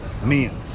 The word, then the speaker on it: Meehan's: She says the H is silent, so it's like Meehan's.